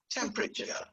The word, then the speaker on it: temperature: it's like an accordion when you stress the first syllable it contracts so you can see that there is a very small symbol there at the top after the p can you see that that means this isn't uh it's temperature that's it that's it listen again temperature temperature let's see the american